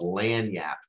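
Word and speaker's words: lagniappe: a creole word called lan yap l-a-g-n-i-a-p-p-e pronounced lan l-a-n yeah y-a-p that means something extra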